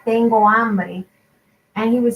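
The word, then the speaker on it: hambre: couldn't say his once the h is silent in spanish and he always tried to pronounce it um like when he would say um i'm hungry in spanish it's called tengo ambry and he would say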